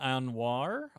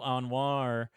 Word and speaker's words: Anwar: Fans of Burn Notice will know Gabrielle Anwar, I believe it's pronounced.